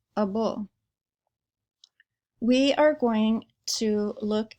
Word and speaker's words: -able: at the suffix double it looks like Abel and it means kin or able to but it's pronounced a bull we are going to